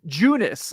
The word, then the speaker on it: Junis: say I thought it was yakob yakob yakob yunice but uh five really solid endings was really